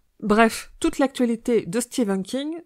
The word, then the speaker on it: Stephen: Je vais m'efforcer à prononcer Stephen au lieu de Stephen King, car en anglais, Stephen se prononce bien Stephen.